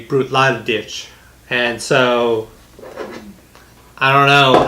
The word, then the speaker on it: Bruichladdich: pronounce the different ways I've heard people just say brute Lodi and then I've also heard people say brute lot of ditch and so I don't